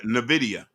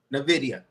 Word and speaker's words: Nvidia: know about is uh uh I can't even pronounce it it's uh n NV ni ni n Nvidia Nvidia thank youim so Nvidia so a lot of